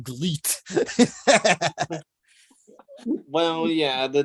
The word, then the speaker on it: GLEAT: Well, I think it's pronounced Gleet, like great, just with the L instead of the R. I pronounce it, have been pronouncing Gleet.